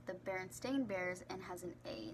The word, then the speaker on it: Berenstain: and it was famous for being called the Berenstein bears and it was spelt with an e but when reality it is pronounced the berenstain bears and has an A instead of an